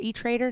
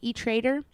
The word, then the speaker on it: E-Trade: for example E-Trade guys or e-trader not E-Trade e-trader or E-Trade what is it guys now I don't even know myself I said it wrong and I don't know is it it's E-Trade just trade E-Trade E-Trade does both you